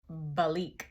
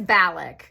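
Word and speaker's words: Balak: a named Bal no Bic I googled this and now I'm embarrassing myself hang on it is balic was that either of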